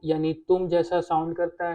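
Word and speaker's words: unité: Simple, English वाली यूनिटी की तरह से यूनिते।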